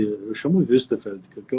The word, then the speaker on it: Wuestefeld: como é que tu pronuncia? Eu chamo Wüstefeld, que é o nome, né? Westerfeld, isso aí. É isso aí, então tá bom, então tá bom. Em Bom, português eu falo Westerfeld mesmo.